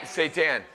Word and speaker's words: seitan: Seitan. You know what seitan rhymes with? Satan.